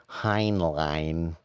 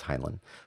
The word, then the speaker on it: Heinlein: short story by uh i never know how to pronounce his last name robert heinlein uh i think it's highland but um it's called